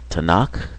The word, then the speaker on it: Tanakh: The Hebrew uh Bible is pronounced Tanakh.